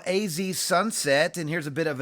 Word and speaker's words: Sonset: So yeah, AZ Sonset, it is a play on words. He does spell it S-O-N.